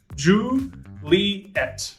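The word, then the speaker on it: Juliett: one you'll see uh julia uh ju li et when you're pronouncing that one kilo um if you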